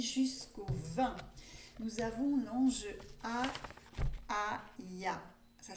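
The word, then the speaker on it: Hahaiah: Nous avons l'ange Aïa. Ça s'écrit H-A-H-A-I-A-H pour ceux qui aiment bien avoir l'orthographe.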